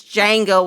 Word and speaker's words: Django: Anyways, Keynes said Django, and I'm sitting there and I'm sitting there going, do you mean Django with a silent D?